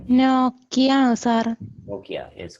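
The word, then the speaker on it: Nike: നൈക്കി എന്നാണ് അതിന്റെ pronunciation. NIK.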